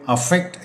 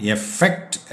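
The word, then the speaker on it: affect: എഫ് ഇ സി ടി പൊതുവെ അഫക്ട് എന്നാണ് നമ്മൾ പറയാറുള്ളത് അതിൻറെ ഉച്ചാരണം എഫക്ട് എന്നാണ് പറ്റുക ബാധിക്കുക ഇഫക്ട് എന്ന്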